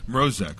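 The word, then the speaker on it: Mroczek: Did I say this right? Mrozek? Mrozek? Mrozek. Okay, so the C is silent.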